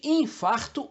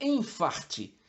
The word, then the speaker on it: infarto: são sinônimos portanto finalmente infarto ou infarte essa palavra vem de farto e se refere à lesão arterial ocasionada pelo bloqueio as artérias ou seja há uma Fartura de elementos que entopem as artérias há quem defenda que infarto seria utilizado apenas para esse entupimento arterial e infarte para qualquer outra situação que signifique Fartura é indiferente seu uso digamos medicinal você tanto pode dizer infarto como a maioria prefere como emte O importante